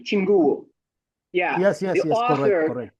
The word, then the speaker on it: Chinguwo: Chinguwo.